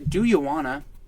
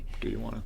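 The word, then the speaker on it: Dujuanna: Do You Wanna, spelled D-U-J-U-A-N-N-A. Do you wanna? And I imagine that it's pronounced as an H. So Do You Wanna?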